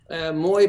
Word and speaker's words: Moy: most of my points Moy pour money over IP it just rhymes with voyage so that's why we're